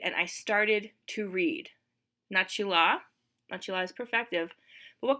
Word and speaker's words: начала: I don't know if you've noticed, but the way I've been pronouncing я начала doesn't exactly match with the way that it's spelled. The way that it's spelled, it looks like it should be pronounced начала. But remember, vowel reduction. So here's kind of a weird reduction rule that we've seen. After ch, a reduces to sound like an e.